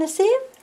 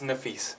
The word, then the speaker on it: Nafis: So welcome, Nasif. Nafis. Nasif. How do you say it? It's Nafis. Nafis.